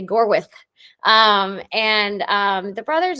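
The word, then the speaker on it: Gorwydd: learned the proper Welsh pronunciation of it it's spelled like gorwood um but you have to say gorth um and um the brothers visited Us in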